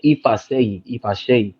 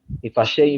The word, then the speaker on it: Ifaseyi: That's my first name, and then Ifasheyi. Ifasheyi means God does this. That's my name, Ifasheyi. God does this. God did this. That's what that means. So how that Ifasheyi is spelled is IFASEYI.